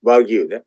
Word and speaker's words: Wagyu: Japanese word Wagyu, as I mentioned, pronounced Wagyu.